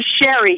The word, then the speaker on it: Sheree: up your last name it's actually Sherry even though it's spelled French Sher it is pronounced Sherry Marie see and this